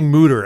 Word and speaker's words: Mütter: Patreon, we'll say Mutter. Yes. Remember what we said. We'll really pronounce the umlaut.